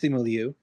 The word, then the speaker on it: Simu Liu: Is it pronounced Simu? Yeah, I think it's Simu Liu.